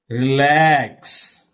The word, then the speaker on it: relax: Stress fell on second syllable. Okay. Look at these words. These are weak prefixes. Return. Return. Okay. Relax.